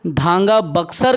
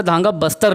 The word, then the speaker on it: धांगा बक्सर: परजा जो जनजाति है वो धांगा बक्सर कहलाती है, कई जगह धांगा बस्तर लिख दिया है। तो हम इसको क्या करते हैं, धांगा बक्सर, ठीक। परजा जनजाति का ये ओरिजिनल प्रोनाउंसिएशन है धांगा बक्सर। धांगा बस्तर लिख देते हैं कई जगह पे, वो गलत है, धांगा बस्तर नहीं होता, धांगा बक्सर होता है।